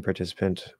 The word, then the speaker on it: participant: to work with uh is the T in participant fully we know why there it's an e sound fully as a team participant fully pronounced aspirated tea as in time where's the stress that's all you got to ask where's the stress participant participant there's the answer the stress is on ti so yes it's going